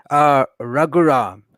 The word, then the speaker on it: Raghuram: Raghuram. So it's like, Raghuram. so think of the set apart angel in Enoch, Raguel, Raghuram.